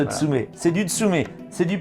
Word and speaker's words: Tsume: nom du fabricant alors c'est Tsum non c'est tsumet tum on prononce tsumet c'est du tsumet c'est